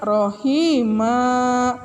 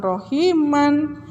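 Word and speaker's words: رحيما: berbunyi jadi a-pro Hima Rohima Rohima bukan Rohiman kalau di akhir ayat atau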